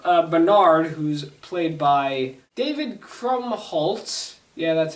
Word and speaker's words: Krumholtz: So I didn't mention in the first Santa Claus video, but the main elf, Bernard, who's played by David Krumholtz.